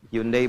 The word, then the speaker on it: Hyundai: Hyundai bacanya Hyundai.